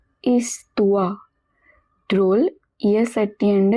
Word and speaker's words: histoire: 105e leçon, 25th lesson, Douze histoires drôles. Histoire, it means stories. Remember, H in the beginning is always silent. OI is pronounced as UA. Histoire.